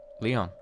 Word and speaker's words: リオン: Leon. 理科の理に、魚するの魚でリオンと読みます。 Written as that, but pronounced Leon. Not lion.